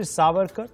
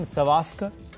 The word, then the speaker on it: Savarkar: point - Imran then went on to mispronounce veer Savarkar calling him Sawatzky in his hurry to